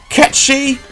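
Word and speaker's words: Cait Sith: wolf Vincent can transform into four different creatures catchy yes that is the original pronunciation apparently it's an animatronic cat that can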